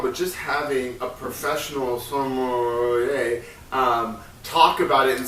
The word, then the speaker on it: sommelier: Or with the wine, he also talks about with using sommeiler. Am I pronouncing that right? I think it's sommelier.